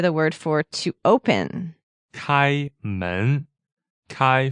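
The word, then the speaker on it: 开: And so next we hear the word for to open kai first tone and men second tone right and this literally means to open is kai is literally means the door.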